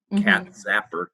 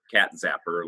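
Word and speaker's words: Katz Sapper: with a c or cat zapper cat zapper like uh one of those bug zappers so uh cats after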